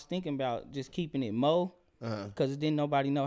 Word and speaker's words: Meaux: And then when I was at the Comethru Tulsa thing, I was like, you can say Mo. He was like, you want me to say Meaux Pesci?